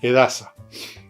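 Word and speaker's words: Edhasa: edasa más bien dicho la H no se pronuncia edasa muy entretenida y eso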